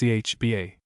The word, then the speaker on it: Cathbad: FN number 40, pronounced Chba.